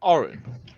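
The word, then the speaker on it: Oran: You say that's Orin. Like Orin.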